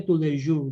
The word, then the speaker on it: Tous les Jours: Jadi tulisannya tous les jours gitu, tapi dibaca tous les jours gitu loh. Ya kan tous les jours. Jadi S-nya itu nggak dibaca.